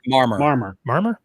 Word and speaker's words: Marmor: How do you pronounce his last name? Marmor? Marmor.